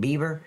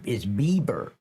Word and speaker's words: Bieber: Is that how you say it, Beaver? I thought it was Beaver. Beaver. But man, who the fuck would have a name like Beaver? It's Bieber. Okay, I didn't know that.